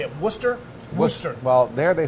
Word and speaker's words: Worcester: very comfortable family how do you say it Worcester Worcester well there they say what's that cuz